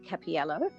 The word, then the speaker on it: Cappiello: about yourself introduce yourself yes my name's capiello that's fine everybody mispronounced it not a problem um we all